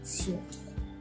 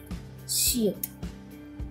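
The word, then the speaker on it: 시옷: उसके बाद है बहुत ही आसान है ये शियत, शियत, लेकिन इसका प्रोनाउंसिएशन है स, हिंदी का स, यानी के एस, यानी के एस।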